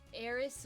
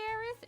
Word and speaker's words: Aerith: hurts me explain error aerys versus Aeris debacle supposedly it's the same thing but Eric is supposedly probably aerith is fine the thing is phonetically yeah the th sound phonetically doesn't exist in Japan so like that's why when you hear Japanese people say like thank you they'll be like thank you they do a sa sound but I mean Earth